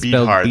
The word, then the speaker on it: Beathard: CJ Beat Hard. They pronounce it so funny. Bethard or something, but Beathard. it's Beat Hard.